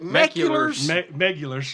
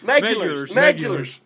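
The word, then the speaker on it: Meguiar's: he kind of asked me, how do you pronounce that? And he said, like, what do you call it? Meculars? Megulars.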